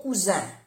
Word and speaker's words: cousin: No se oye mucho la diferencia con la S, pero es importante pronunciar bien las dos S. O cuando hay una S se pronuncia como una Z suave.